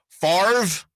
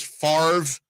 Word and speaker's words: Favre: gonna happen how about farve okay brett favre is an interesting case because farve doesn't sound great and it's spelled favre yeah i would say